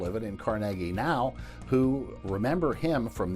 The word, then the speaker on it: Carnegie: town called this area we live in Carnegie if you live here it's Carnegie on the offseason he